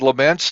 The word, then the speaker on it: Lemense: Podcast continues with our special guest today Todd lament did I pronounce that right perfect pronunciation all right